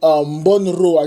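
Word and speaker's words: Bornauw: And then you have the doubtful nature of the knock that Sebastian Monroe, that's how you pronounce his name, picked up.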